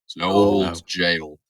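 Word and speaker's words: gaol: And you can tell it's you tell it's going to be spooky because it's spelled G A O L Jail.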